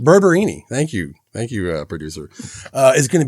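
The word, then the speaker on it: Barberini: Yeah, because you're thinking that like Urbano Berberdini, what? How do you pronounce his last name? Berberini. Berberini.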